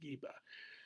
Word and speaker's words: Gibeah: means uh place of GBA or some would pronounce it giba and there came against